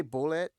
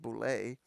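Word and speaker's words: Bulette: the boo Abu yeah actually I always say bullet but it's uh Boule the boulet pronounced boulay yeah the only yeah that's how I said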